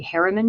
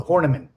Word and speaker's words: Horniman: And you interned at the Harriman Museum in London. Is that correct? The Horniman. Horniman, sorry, mispronounced that.